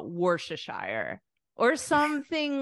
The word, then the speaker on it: Worcestershire: not how you say it so we say Worcestershire oh Worcestershire Worcestershire so the sauce you call Worcestershire Worcestershire sauce Worcestershire Worcestershire I I swear in North America we call it Worcestershire or something like that because this is a